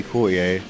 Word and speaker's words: Courttia: even within my family I say cier and my mom says ctia because she said that's the proper way you should say it and you must pronounce the te's and whatever ever um so we have a bit of an argument about that it definitely is not ctia you know what I